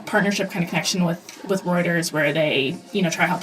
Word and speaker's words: Reuters: You did a 2-month stint, it sounds like, at Rutgers News Agency. Reuters. Yeah. I always mispronounce that one every single time.